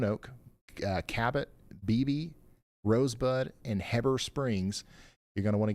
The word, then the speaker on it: Heber Springs: Heber, it's not Heber, it's Heber Springs.